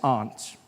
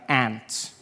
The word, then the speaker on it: aunt: For instance, I pronounce the opposites of uncle as aunt. I say my aunt. Out here you say my aunt. Which to me is an insect.